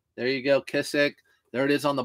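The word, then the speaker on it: Kizik: of these so kissk you can try to pronounce that kissc k i z i k there you go kissc there it is on the bottom again these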